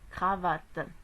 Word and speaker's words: cravate: Lorsqu'il y a donc une consonne, il y a la consonne R dans le troisième mot. Donc on va prononcer le C en K. Cravate, cravate.